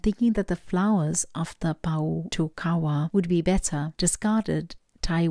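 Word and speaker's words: Pōhutukawa: for you okay so this card is pronounced power to Kawa and it translates into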